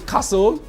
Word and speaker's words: castle: don't pronounce the t the same with kasu you don't pronounce the t in castle you don't pronounce the